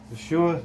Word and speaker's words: Yeshua: Yeshua is how you say Jesus in Hebrew.